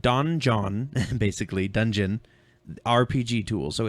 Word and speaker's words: Donjon: This is called Donjon, basically Dungeon RPG tool. So it's donjon.bin.sh is the address. And how do you spell Donjon? Donjon. Hey, you. So dungeon, but spelled like that.